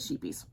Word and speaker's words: Scheepjes: Yeah, and they asked the lady from Darling Deviants how she pronounced it, and she said, we pronounce it sheepies.